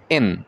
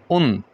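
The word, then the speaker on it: ん: এই উচ্চারণটা হবে এন বা উন, উন বা এন, এন বা উন।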